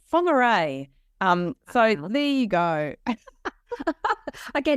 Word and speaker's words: Whangarei: And I was hosting her in a place that she pronounced as Whangarei, and it was actually Whangarei.